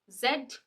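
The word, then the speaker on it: Z: मेस्ट्री दूसरा ज जैसे जाइलो जाइलोफोन लास्ट इज जड या फिर जी दोनों ही ठीक है आजकल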